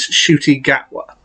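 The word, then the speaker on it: Ncuti Gatwa: the 14th doctor announcement i completely mispronounced the name and i do apologize the name of the latest actors takeover as the 14th doctor is shooti gagwa that's how to pronounce his name and honestly i can't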